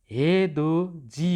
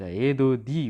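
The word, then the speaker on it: 해돋이: जस्तै यहाँनिर हे दो जी हुन्छ, हे दो दी हुँदैन।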